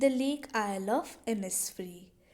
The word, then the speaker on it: Innisfree: title the title is the lake oil ऑफ इनिस्फ्री इन the word oil oil word में आपका जो एस है that is a silent word तो जब भी हम प्रोनाउंस करते